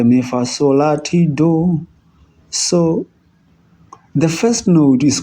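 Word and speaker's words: doh: We have already seen that we have the major scale, which is do, re, mi, fa, sol, la, ti, do. So the first note is called do, as in D-O-H, do.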